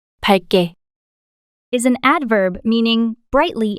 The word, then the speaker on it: 밝게: 밝게, Is an adverb meaning brightly in English. Only 리을, is pronounced among the complex consonant, and the initial consonant